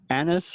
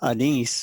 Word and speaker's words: anise: licorice plants out there or anise or a nice whichever way you want to pronounce it they either one of